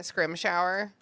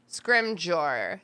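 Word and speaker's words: Scrimgeour: British pronunciation. Scrimjaw. Scrimjor. That's the Scrimjor. That's the British pronunciation. The Minister Scrimjor. Like hors d'oeuvres du jour.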